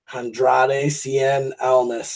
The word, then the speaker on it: Andrade Cien Almas: Andrade Cien Almas.